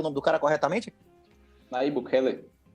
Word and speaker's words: Nayib Bukele: Pronuncia o nome do cara corretamente? Nayib Bukele.